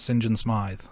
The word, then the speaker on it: Saint John Smythe: I accept that James Sinjin Smith it's spelled Saint John Smythe but he pronounces it so yes yes thank